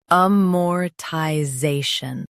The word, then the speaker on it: amortization: Amortization. Stress zay and keep shun light.